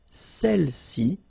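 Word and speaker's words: celles: and then all right feminine plural celi okay don't pronounce the final s celi s all right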